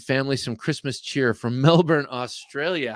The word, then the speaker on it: Melbourne: some Christmas cheer from Melbourne Australia how cool so do I say Melbourne uh or or I'll say it Like A Yank Melbourne Melbourne Australia that's so cool thank